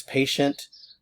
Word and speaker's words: patient: So, uh in English, this is patient. Uh in French, patient. Patient. Notice I'm not pronouncing the end here.